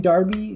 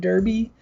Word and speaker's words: Derby: So I feel like maybe by the same transitive property, I should be saying Derby instead of Derby, because I probably sound like a wanker for saying Derby.